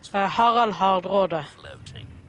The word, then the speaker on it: Harald Hardrada: Harald Hardrada. Harald Hardrada. Well, okay, so you pronounce it slightly differently to the English. Well, you're obviously pronouncing it properly because you're saying his name in Norwegian.